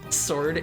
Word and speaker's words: sword: I thought it was always pronounced sword. Like that kind of thing. Sword. Yeah, you you just you you just drop the W. It's not really there.